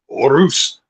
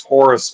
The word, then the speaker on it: Horus: In Spanish it's Orus, but here it is Horus.